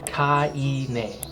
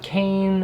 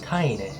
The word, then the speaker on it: KAINE: The correct way to pronounce this brand's name is KAINE. It's not Kane or Kain, it is KAINE.